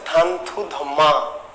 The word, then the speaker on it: থানথুধম্মা: এই চন্দ্র সুধর্মাকে আরাকানি ভাষায় বলা হয় কি? উচ্চারণ হচ্ছে থানথুধম্মা।